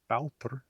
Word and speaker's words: bátur: Another interesting pronunciation difference with Icelandic is that the long A, which has become ow in Icelandic in a word like bátur, boat, this should be probably Old Norse båtur, compare Norwegian båt.